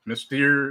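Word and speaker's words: Mystère: Mystere, though, you say mystery, or how do you say it? Mystere. It's like French, right? It's French, yeah.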